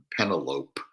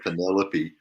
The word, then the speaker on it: Penelope: You know, I read the Iliad and the Odyssey in the 6th grade, and I, you know, for years I thought Odysseus's wife's name was Penelope instead of Penelope.